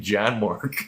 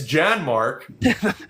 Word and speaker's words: Janmark: guy, this one NHL expert, was like, yeah, Janmark. He kept saying Janmark the whole show. How are you an NHL analyst and you're saying the guy's name wrong?